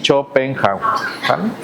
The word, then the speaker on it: Schopenhauer: Aquí hacemos una pequeñita pausa y regresamos para hablar acerca ahora sí de Chopenhauer y que se pronuncia así, Chopenha.